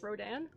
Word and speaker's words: Rodan: The D-A-N in Rodon is it's pronounced like Dan, so it's Rodan. Okay, so it's not French.